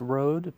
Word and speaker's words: Rhodes: Yeah, so it's pronounced road, but it's spelled differently, R-O-A-D.